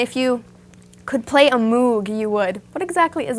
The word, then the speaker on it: Moog: They're invented by Robert Moog, that's why it's called a Moog. Actually, it's pronounced Moog.